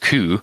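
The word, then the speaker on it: 九: Four was pronounced she, which was the same pronunciation as death, while 9 was pronounced coup, which had the same pronunciation as agony or torture.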